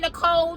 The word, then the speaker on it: Nicole: And just for FYI purposes, the E on the end of Nicole is silent. Yes, I know you see it, but it is silent, and it is there